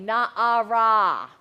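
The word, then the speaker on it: נערה: A maiden is spelled nun ayin resh hey, na'ara.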